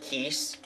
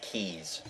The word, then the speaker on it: Keese: And for the record, it's pronounced Keese. Almost everybody I have heard mispronounces it as Keys.